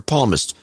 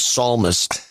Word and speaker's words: psalmist: at the definition there's no other definition for palmist what he meant to say was psalmist he Dro he dropped an S pron it's spelled PS a l and he's pronounce it palmist instead of psalmist uh Poor Joe but so he does this